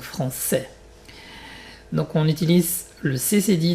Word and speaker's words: français: Franquet, franquet, c'est pas français, donc français.